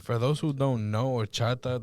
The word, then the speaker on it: horchata: For those who don't know, Horchata, the first letter is an H. Just letting you know. The H is silent.